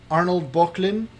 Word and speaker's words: Böcklin: if I had to pick between them, the two I would pick, first I should say, is between Arnold Böcklin, I believe is the proper pronunciation.